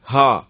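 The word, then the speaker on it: هاء: இந்த ஹா எப்படின்னு சொன்னா அடிவத்திலிருந்து வரணுங்க உச்சரிப்பு. ஹா அடிவத்திலிருந்து வரக்கூடிய எழுத்து.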